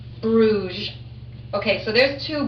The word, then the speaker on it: Bruges: Those of you who are still sounding out, B-R-U-G-E, and it has a silent S. Bruges, Bruges.